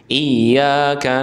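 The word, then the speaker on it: إِيَّاكَ: Iya ada tasdidnya sedikit ditekan. Iyaka na'budu wa iyaka nasta gitu ya.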